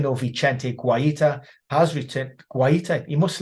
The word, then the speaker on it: Guaita: Guaita, you must like that. That's a bit of class pronunciation there.